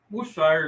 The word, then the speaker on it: Worcestershire: The W sauce is difficult to pronounce. He agreed. Okay, flat face. Worcestershire is like the worst.